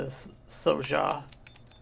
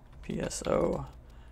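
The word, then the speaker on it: Pso'Xja: I say So-Ja. Seconds on invis. Like Pojax? I don't know if the P is silent or the S is silent, but Pso, it could be Pso and Xja. And I don't know what's silent there.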